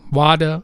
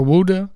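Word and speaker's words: Ouidah: the city of Cuda some people pronounce it wada or Wuda or Juda it reads here that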